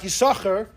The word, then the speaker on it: Yissachar: Ben Naphtali said you pronounce both sins. There's no silent sin.